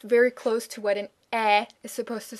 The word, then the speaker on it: Ä: And if you have trouble forming it from scratch, try sliding into it from pronouncing an e, like in very, very, very, very.